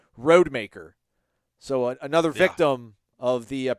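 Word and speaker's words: Rodemaker: with all these announcers I had no idea it was pronounced Tate roadmaker so another victim of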